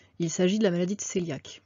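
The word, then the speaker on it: cœliaque: s'agit de la maladie coeliaque france écrit qu eyliac mais en fait ça se prononce coeliaque c'est une maladie qui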